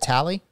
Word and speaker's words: Talley: for Jacob tally and that's how you pronunciate your last name right is it tally y that's correct yes sir see I knew I